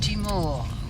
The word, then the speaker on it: Tŷ Mawr: That's how it's pronounced. Tŷ Mawr, wybrant.